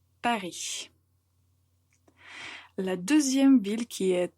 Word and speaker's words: Paris: Donc, il faut prononcer Paris.